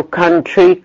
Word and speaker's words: country: mother بالاو mother، لكن بننطقها بالساوند ده. برضو country country country او يو، لكن تتنطق بالساوند ده.